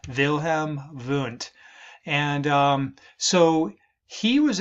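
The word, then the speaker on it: Wilhelm Wundt: here whose name was vam V that is German that's why the uh W's are pronounced uh we usually pronounce those as V's vilhm V and um so he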